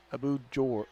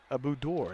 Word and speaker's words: Abu Dor: Abu Jor. I can't pronounce that name. Abu Dor. That's his name.